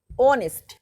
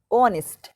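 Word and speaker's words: honest: অনেস্ট, উচ্চারণ এইচ আছে প্রথমে কিন্তু উচ্চারণ করার মতো হচ্ছে ও এর মতো, অনেস্ট, এটা কি বসবে?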